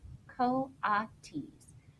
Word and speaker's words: coatis: watches miss Brisbane Stine reading from the letter pronounced co-op teased the coatis of the weird miss Mac looked